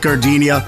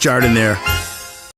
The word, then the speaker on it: Jardiniere: Hey guys, when you're at the counter, don't call it gardenia. It's pronounced Jardiniere.